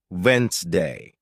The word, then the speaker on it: Wednesday: For example, you might see the word Wednesday and think it's pronounced exactly as it's spelled, but listening teaches you it's actually pronounced Wensday.